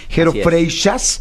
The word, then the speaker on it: Freixas: Jero Freixas, se escribe Freixas. Jero Freixas. Catalán. Es catalán, sí, catalán. Era lo que te iba a decir.